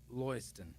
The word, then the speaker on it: Lewiston: People from Rumford, Maine pronounce Lewiston as Loyston.